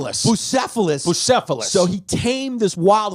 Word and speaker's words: Bucephalus: How do you pronounce that? 𝒂💔? Bucephalus.